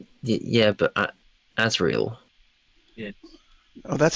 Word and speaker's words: Azrael: It's a different It's Yeah, but Azriel. Yeah. Oh, that's how he pronounces it.